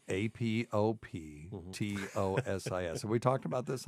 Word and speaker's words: apoptosis: have it okay but people will pronounce that apoptosis and it's like God that just makes me cringe I have a journalism